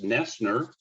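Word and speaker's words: Noesner: hold it up well stalling for time it's pronounced nestner but the spelling is a little bit different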